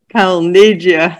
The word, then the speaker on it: Calneggia: world from australia frank calnegia that's a weird name but uh never mind it's my opinion so that's an italian pronunciation uh it certainly is